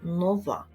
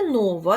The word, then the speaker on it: нова: До речі, зверніть увагу на наголос слова нова. Не нова, як іноді в нас говорять, так, а саме нова.